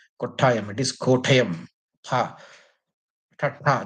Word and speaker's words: Kottayam: It is not Kottayam. It is Kottayam. Ha. Ta, the second letter. Yeah, that one. You have to pronounce it that way.